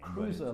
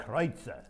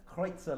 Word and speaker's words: Kreutzer: Well, now, if you're American, you call it Cruiser Lane. Cruiser Lane, But okay. it's Kreutzer. Kreutzer Lane.